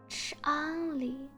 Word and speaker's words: Changli: So here's how you pronounce Changli. Think of encore, and then you combine the ch sound from chirp, ch, with the en sound from encore, an, and then add a li, Changli, Changli, Changli, Changli, Changli.